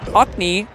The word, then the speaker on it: Ockney: Nicholas Buckman says, my tag is Ockney, pronounced A:*K-knee, like an ox with a hard K, then knee, which is basically what I said. Thank you, Oxney.